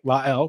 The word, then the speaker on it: La'el: l which um i gotta be honest i got wrong a lot of people got wrong thanks to the great dan horde for asking what his first name was so now we can all say it right la el